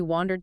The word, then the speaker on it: wander: Wonder uh is internal curiosity. Wander ao is external movement or mental drifting. Mastering that vowel is key.